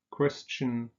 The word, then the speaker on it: Christian: So christen, taufen, no T, Christian pronounced with a T.